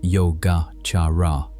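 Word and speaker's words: Yogācāra: The school is called yoga pronounced yoga charara which translates roughly as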